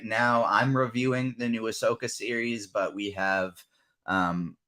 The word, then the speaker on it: Ahsoka: pronounce that wait uh is that a hoska is that how you pronounce the Star Wars that's okay Ahsoka okay Ahsoka right yeah you can find